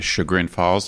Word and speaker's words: Chagrin Falls: heights all right well let me clarify it's pronounced sugar in falls and it's actually where i was staying when